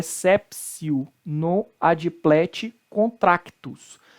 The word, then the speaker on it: exceptio: seria essa psiu é sepsil no adimpleti contractus porque és apps you aqui no latim UTI tem som de c então spray aqui ó